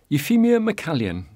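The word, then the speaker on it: Euphemia MacCalzean: 12 the High Street euphemia mallan and that's how it's pronounced the spelling looks very strange owned property on edinburgh's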